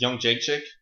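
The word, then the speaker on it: Jędrzejczyk: Yeah, I guess the way to say her last name is Young Jake Chick.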